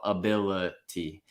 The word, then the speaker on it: ability: The second I goes right back down to that lazy schwa. Only the stressed syllable is using a real vowel, ability.